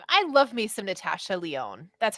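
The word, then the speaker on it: Lyonne: out yeah I I love me some Natasha Leone that's how you pronounce her last name right yes yes I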